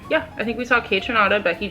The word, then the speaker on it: Kaytranada: it's Coachella okay so day one we saw kaytranada hey tranada right you said it right did